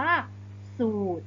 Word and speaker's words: สูตร: นั้น เอง นะ คะ โดย ตัว นี้ เรา จะ ไม่ อ่าน ออก เสียง ตัว รอ เรือ นะ คะ ดัง นั้น คำ นี้ อ่าน ว่า สูตร นะ คะ ตัว อย่าง